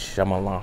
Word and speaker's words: Shyamalan: never known how to say his name its Shyamalan myeloma anyways M night Shyamalan film glass if